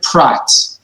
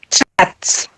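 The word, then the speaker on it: פרת: Margaret, prat. I can't hear. Oh, you can't hear. Huh. Yes. Prat. Can you hear? Prat? Plats. With a P, prat.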